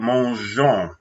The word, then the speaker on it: mangeons: Mangeons. Répétez, mangeons. This means let's eat. Now, let me remind everybody, we have the G-E-O-N-S. You have to have the E to keep that soft G there.